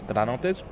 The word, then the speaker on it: Granates: It's Granotes. That's it. Yay. Yay for bad pronunciation and probably just forgetting to say words, to be honest.